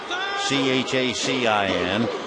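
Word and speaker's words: Chacín: His last name Chacin, Chacin.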